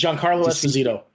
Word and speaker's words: Giancarlo Esposito: for Christ's sake you were so white it's Giancarlo Esposito thank you Esposito thank you thank you